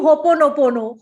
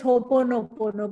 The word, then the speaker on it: Ho'oponopono: So just do Ho'oponopono. H-O-P-O-N-O-P-O-N-O, and this will come. Yeah. Yeah. So because a lot of people pronounce it as Ho'oponopono, but it's Ho'oponopono actually. Ho'oponopono.